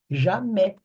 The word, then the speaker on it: jamais: Que é a mesma terminação do jamais, né? Jamais. Você não fala nunca. Jamais. Jamais. É nunca, né? A gente escreve jamais. Esse AIS sempre vai ser pronunciado é.